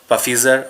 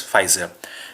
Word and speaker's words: Pfizer: this is this uh this is pronounced as pfizer not puffizer or fizzer it's pronounced as pfizer and let me tell